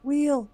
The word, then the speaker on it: wheel: Wheel wheel again. Wheel. Do Do you don't pronounce the H? No. Just Just wheel.